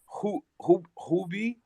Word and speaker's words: Huobi: I don't want to butcher the name, but it says Huobi Research. Huobi Research. Huobi.